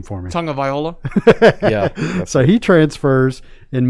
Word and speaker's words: Tagovailoa: So pronounce the last name for me. Tagovailoa.